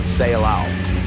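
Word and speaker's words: Ceilão: India remains simply Salon that word Salon is as a matter of fact a mistaken pronunciation of the Portuguese word say alow the name given by Portuguese explorers who discovered it the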